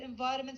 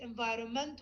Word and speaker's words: environment: Okay, so for example, environment, sometimes people leave the N out and they write it environment without the N, although the N is silent.